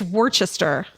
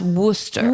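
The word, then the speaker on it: Worcester: It's Worchester. It's spelled Worchester. Yeah. And it's pronounced worooster. Woo. I think you have to do the like woroo.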